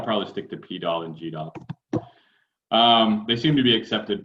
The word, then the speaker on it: GDAL: They named it intentionally to rhyme with GDAL. I had no idea that there was an alternate pronunciation for GDAL as well, which is Goodle.